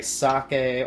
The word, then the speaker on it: sake: You know, it's technically pronounced sake in Japanese, but we call it sake in the U.S.